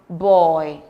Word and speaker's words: buoy: B-O-U-Y is pronounced boy.